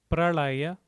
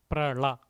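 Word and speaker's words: प्रलय: So you would pronounce it as prala. When you have a dot below, twist your tongue up, pralaya. But otherwise, even pralaya, without twisting your tongue up, just keeping it flat, prala is also fine.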